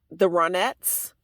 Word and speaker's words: The Ronettes: ride um I think the way you would pronounce the the group was The Ronettes but you see the spelling right there it's r-o-n-e-t-t-e-s that's the version of